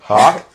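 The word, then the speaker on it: Houck: How you say it? Hawk. Yeah, I can't lie. I just never knew how to pronounce it. I usually say Hook every time.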